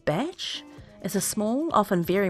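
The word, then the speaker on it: bach: a holiday home so a badge pronounced batch is a small often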